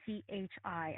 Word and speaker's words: Qi: And then there's Qi, which is Chi. And many people say, well, what's the difference? It's pronounced the same, but there's two different words.